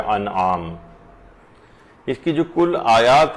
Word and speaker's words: انعام: کر دی جائے، وہ یہ ہے کہ لوگ اسے سورہ انعام پڑھتے ہیں، جبکہ یہ ہے سورہ انعام، یہ زیر کے ساتھ نہیں ہے بلکہ یہ زبر کے ساتھ ہے، تو اس کا صحیح تلفظ ہوگا سورہ انعام۔ اس کی جو کل